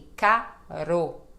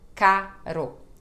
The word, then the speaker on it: caro: no final de palavra quando são dois RS juntos aí é som de ra também como carroça carro tá bom E aí então aqui temos aquela diferença né carro e caro ó Ro então carro caro vou deixar uma playlist